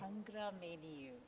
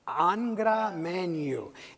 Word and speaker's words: Angra Mainyu: Did I pronounce that properly? Angra Mainyu. Angra Mainyu.